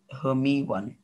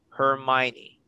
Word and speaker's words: Hermione: the honest friendship of harry potter ron and hermie one hermione sorry uh if you're not familiar with the movie it's it's pronounced as hermione money okay uh and the brief of me